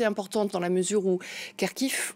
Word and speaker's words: Kharkiv: dans la mesure où Kharkiv, on l'appelle aussi Kharkov, parce que quand on est russophone, on prononce Kharkov.